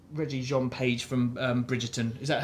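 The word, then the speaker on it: Regé-Jean Page: And this also has how do you pronounce Reggie Jean Page from Bridgerton?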